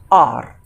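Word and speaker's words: hour: इस वर्ड में क्योंकि एच साइलेंट है तो इसे हम हावर नहीं पढ़ के आर पढ़ेंगे, तो इसमें हम एन आर का यूज़ करेंगे, न कि ए आर।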